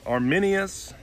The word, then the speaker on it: Arminius: guys so this is the arminus arminius uh i guess is how you say it um and it's a